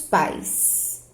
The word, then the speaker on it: pais: Aqueles são meus pais. Olha a pronúncia. Pais, é tudo junto. Não tem como eu dividir essa sílaba aqui, não tem, tá?